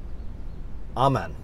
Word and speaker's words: Aman: a young man named niels ahman that's how you say it not a man yeah neil zaman niels